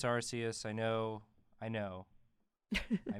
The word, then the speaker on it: Arceus: I always say Arceus. I always say Arceus too. I know it's Arceus. I know. I mispronounce everything.